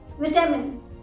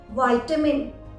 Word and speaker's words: vitamin: विटामिन, विटामिन UK pronunciation के according है। जबकि वाइटामिन, आजकल बहुत लोग बोलते हैं वाइटामिन, तो वाइटामिन गलत नहीं बोल रहे हैं। वाइटामिन वो यूएस प्रोनाउंसिएशन के अकॉर्डिंग बोल रहे हैं वाइटामिन।